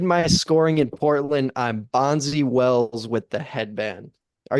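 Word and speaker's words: Bonzi: close Birch well no you just just pronounce it differently bonsi 100 racks in my sweatpants did my scoring in Portland I'm bonsy Wells with the headband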